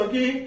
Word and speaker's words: ogive: So ogive curve is two types.